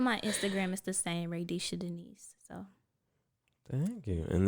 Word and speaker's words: Raydesha: y'all say yeah oh I've heard Raa Risha even though there's no n in my name um R like I don't radisha r a y d e s h a and Denise is